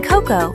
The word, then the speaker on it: cocoa: Remember, even though O can make one sound, in cocoa, the letters O and A do not stay together. That is because cocoa is a longer word broken into parts called syllables. We break it like this.